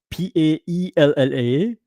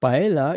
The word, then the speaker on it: paella: I was remembering for me in Spanish, P A L no Paella. It's not paella, it's paella because the LL is ya.